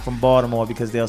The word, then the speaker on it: Baltimore: No one's like really in Baltimore anymore. Like a lot of them. And we don't we don't pronounce the T.